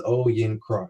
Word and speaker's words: Oyinkro: And so I always break it down into three parts. It's Oyinkro.